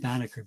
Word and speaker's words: Banneker: that wouldn't allow her in or like Benjamin Banneker born 1731 I didn't pronounce his name well Banneker b-a-n-n-e-k-e-r born in 1731 as the completely uneducated